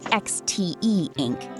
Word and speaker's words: Xteink: Okay, so this is the XTEink X3, pronounced XTEink X3.